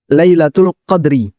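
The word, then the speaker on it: ليلة القدر: Sehingga ketika kita membacanya, Lailatul Qadri, dalnya disukun. Jika kita baca dengan dal disukun, maka artinya adalah kemuliaan.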